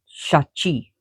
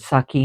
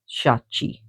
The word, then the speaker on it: Shachi: It sounds almost like chak chaki but chaki which is power divine feminine s shachi. So some people uh pronounce it saki and it's wrong. It's shachi.